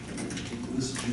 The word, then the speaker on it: Lissajous: Lissajous is spelled like this. Lissajous. Must be a French name there.